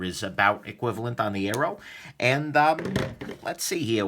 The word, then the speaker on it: Aero: this little big guy this is the booze blades arrow and note that that's spelled AE R row rather than the slings and arrows of Outrageous Fortune not that kind of Arrow the other one um anyways let's do